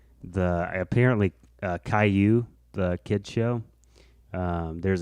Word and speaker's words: Caillou: this feels so good like in the show callaloo or whatever it does caillou his name's caillou caillou yeah i didn't know that's how you